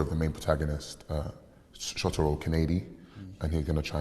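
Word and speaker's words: Kaneda: the main protagonist shotaro canadi and he's going to try and find and bring back his childhood friend tetsuo shima can i say it's just it's just pronounced um canada and shima on one of those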